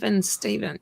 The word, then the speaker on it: Stephen: but yeah, Yes, spelled differently, but well, it's Stephen. Yeah, yeah, that's right. Stephen King is with a PH. Yeah. but it's pronounced the same.